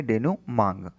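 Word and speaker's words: dénouement: इसका सही प्रोनाउंसिएशन क्या है? डेनूमांग।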